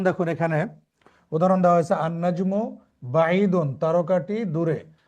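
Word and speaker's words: النَّجْمُ: যেমন দেখুন এখানে উদাহরণ দেওয়া হয়েছে আনাজমু বাইদুন তারকাটি দূরে। আনাজমু এখানে আলিফ লাম এসেছে। আলিফ লামসে লামটি কিন্তু উচ্চারণ হয়নি। না হয়ে পরবর্তী অক্ষর নুন হয়েছে তাজদিদ।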